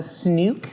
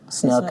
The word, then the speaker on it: Snook: It's uh Snook is the pronunciation.